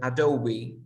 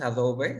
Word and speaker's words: Adobe: muy usado que es Adobe no es Adobe sino Adobe Adobe Adobe Premiere Ah por ejemplo la